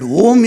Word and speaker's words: Om: But Om is to be pronounced in three matras.